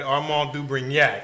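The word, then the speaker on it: Armand de Brignac: So today, instead of just a cocktail, we got to get this thing started with some Armand du Brignac. Whoa. You hear I pronounce that properly, right? Armand du Brignac.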